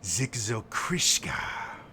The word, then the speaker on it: Zikzokriska: know my name though you pronounce it poorly i am zikzokriska and you are in